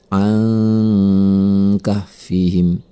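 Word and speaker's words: عَنْ كَهْفِهِمْ: Ada huruf nun mati bertemu dengan huruf kaf. Maka ini adalah ikhfa. Cara membacanya adalah dengan mendengungkannya selama 2 harokat. An kahfihim.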